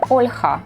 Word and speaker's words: Olha: And Olga got confused because in Russian language they are Olga, but in Ukrainian Olha, or the popular name Marina in Russian language or Marina in Ukrainian language.